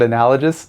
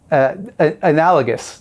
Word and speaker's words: analogous: People always get mad at the way I pronounce the word analogous. It's analogous. There, I've said it both ways.